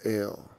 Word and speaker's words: El: Because it's like when you go to the, it's pronounced Ale.